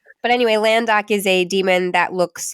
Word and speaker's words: Landok: Man, you're going to make me pronounce this guy's name. You can just say Lorne's cousin. It's Landok.